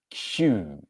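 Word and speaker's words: queue: Difficult one with the spelling. Q-U-E-U-E. Q is the pronunciation.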